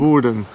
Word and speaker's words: Woerden: Und wir sind ja heute Morgen in Woerden, richtig Woerden, ausgesprochen? Woerden.